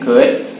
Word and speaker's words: could: Oke, ingat pengucapannya tidak disebutkan sound L-nya. Cukup can, could, atau will, would.